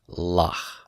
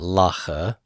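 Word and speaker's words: לָךְ: must be silent and we would vocalize this then as la lah not laa but LA with no sound after it because silent shahboz are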